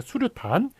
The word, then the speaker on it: 수류탄: 그렇지만 다 사람들이 미입자라고 발음하는 게 아니라 미립자, 예, 그 다음에 소립자, 수유탄이 아니라 수류탄, 그 다음에 파염치가 아니라 파렴치 이런 식으로 다